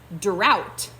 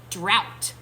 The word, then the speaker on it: drought: Drought. Can you say that with me? Drought. Let's clap it out. Drought. Only 1 syllable in that word.